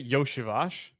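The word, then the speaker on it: Iosivas: figure out so it's gonna start with Andre yosibash two plus receptions yep good on the pronunciation there as well that was correct right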